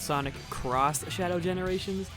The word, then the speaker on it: Sonic X Shadow Generations: You can try to convince me that's supposed to be pronounced Sonic Cross Shadow Generations, but when I see